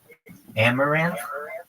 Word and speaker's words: Amouranth: It's Amaranth. It's spelled AMOURANTH.